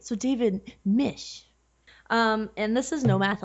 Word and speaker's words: Misch: I'm talking with, is it Misch? No, it's not. It's Mish.